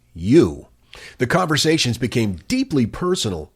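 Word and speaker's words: Eu: According to the report, he named the chatbot the letter E and U, pronounced U.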